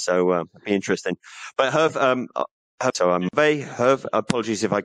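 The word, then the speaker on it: Hervé: Well, if you want to be native, you would say Herve.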